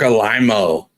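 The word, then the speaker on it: Alaimo: Mark Alimo. Mark Alimo. It's kind of how they say it in the DS9 documentary.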